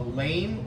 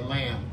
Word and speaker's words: lame: It's called, I think I'm pronouncing, I'll pronounce it, a lame or a lamb, L-A-M-E.